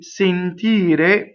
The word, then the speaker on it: sentire: Okay, so the infinitive is closed, the E. Sentire, but now the accent is on the like senti, senta, sento. All of those, when you conjugate it, it becomes open.